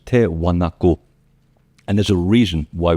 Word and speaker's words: Tiwanaku: If you want to find out about Tewanaku, not Tiwanaku, that's what they pronounce it today. The original is Tew Wanaku.